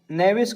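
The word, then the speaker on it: knavish: नेविस का मतलब होता है कपटी। नेविस में के हमारा साइलेंट है, ठीक है दोस्तों।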